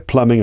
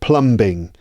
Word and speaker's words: plumbing: is a good idea Plumbing I talked about it several times already notice there's a be in the middle but it's not Plumbing it's actually pronounced Plumbing so the B is silent so again you know